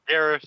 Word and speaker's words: garish: Except the word is actually pronounced garish, so it would be carish, but the pun doesn't make Oh.